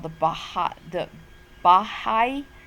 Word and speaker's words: Baha'i: called the Baha the bahai that's hard to pronounce Baha'i there's an emphasis on the I by high and so the Baha'i